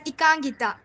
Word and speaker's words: Ekangita: So now we have Ekangita. Is that how you pronounce your name? Ma'am, I pronounce it as Ikangita.